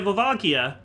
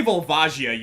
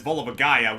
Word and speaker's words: Volvagia: Because, like, I say Volvagia, you say Volvagia. A very, very good and flaming friend of ours says Volvagaya, which I'm just gonna say right now, it's not the correct pronunciation.